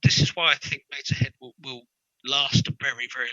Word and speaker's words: Motörhead: Because it's almost impossible to pronounce if you actually pronounce the umlaut. Motörhead or something. And it doesn't quite work.